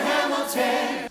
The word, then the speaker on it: Hamilton: Alexander Hamilton. Alexander Hamilton. Count the syllables and pick out one that is stressed. Hamilton. My name is Alexander Hamilton. Hamilton. 3 syllables and the first one is stressed.